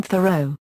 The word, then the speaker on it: Thoreau: life and education 1817 to 1836 henry david thoreau was born David Henry Thoreau in Concord Massachusetts into the modest New England family of John Thoreau a pencil maker and Cynthia Dunbar his paternal